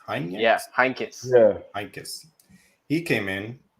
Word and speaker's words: Heynckes: And I believe it was, I forget how to say his name, Jupp Heynckes? Yeah, Heynckes.